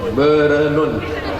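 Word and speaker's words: Bireuen: Payah membacanya. Biranen. Bernun.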